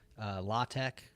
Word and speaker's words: LaTeX: the distributed systems algorithms law Tech which is spelled latex you know like that document